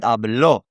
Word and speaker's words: hablo: There is a difference between hablo and hablo, okay? Hablo has the emphasis on the beginning vowel, the vowel in the first syllable, you could say.